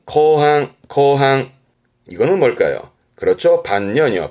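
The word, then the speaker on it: 後半: 발음은 거항, 거항.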